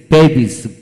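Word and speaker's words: babies: এস থাকলে, অর্থাৎ এদের পরে এস থাকলে এদের উচ্চারণ বর্গার্য হয়। বর্গার্য হয় যেমন বি এ বি আই এস, বেবিস, বেবিস।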